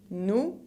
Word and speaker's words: nous: Nous, con la S final que no se pronuncia.